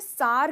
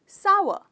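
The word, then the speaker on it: sour: कुछ लोगों को मैंने सार कहते हुए सुना है, सार, पर ये गलत प्रोनाउंसिएशन। इसकी सही प्रोनाउंसिएशन है सावर, सावर। तो इस वर्ड के दो हिस्से हैं, सावर। तो इसमें आप स्ट्रेस करते हैं सा को, कहते हो सावर, राइट।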